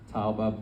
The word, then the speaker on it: Tauba: So her name was, as my mom told me the correct pronunciation yesterday, Tauba Bas Yaakov. Her name was like Tova. Tauba Bas Yaakov, we knew her as Till, or Tilly, as everyone knew her.